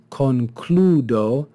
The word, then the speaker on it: concludo: have the second example we have concludo concludo and we see this second vowel ooh with a long Mark over it is derived from a diphthong it's actually from the word claudo and here in the middle of the word you can see the diphthong cloud but that diphthong is contracted to make concludo rather than conclado and so because that's